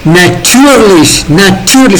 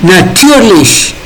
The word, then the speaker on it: natürlich: Okay, natürlich, emphasis is on natürlich.